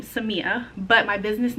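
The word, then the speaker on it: Samia: And I know sometimes when it's written down, people think it's Somaya, but it's Seama. So that's my full name, Seama.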